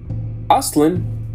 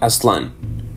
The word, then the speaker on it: Aztlán: asan and not Aslan because in aat language all words have their strong syllable on penultimate syllable Asin can mean place